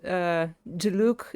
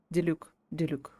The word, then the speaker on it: Diluc: This is probably the network that Diluc is in contact with. Why do I pronounce Diluc so strangely? Diluc, yeah. As an expeditionary force on